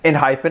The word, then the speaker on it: ENHYPEN: that has debuted today in hyphen i believe is how you pronounce the name they have come from